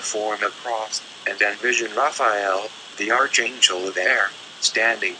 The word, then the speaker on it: Raphael: Say, before me, and then vibrate, Raphael, pronounced Raphael.